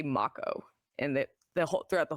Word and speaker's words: Mako: I think more people were mad about the pronunciation of uh I always said moo and they say Mako and the the throughout the whole game I